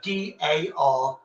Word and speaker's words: Derby: My city derby, you'd go DARBY unless you're into that racing thing. The derby or the car race derby, which is with an E. That's how we pronounce the EA, the E as an A, derby. It's local slang. It's the way you say the R.